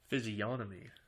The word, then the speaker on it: physiognomy: the practiced eye the physiognomy physiognomy physiognomy physical appearance physiognomy physionomy g is silent a person's facial features